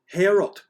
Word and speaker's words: Heorot: And that seems to have been the inspiration behind Heorot. I'm gonna stab at pronouncing it right.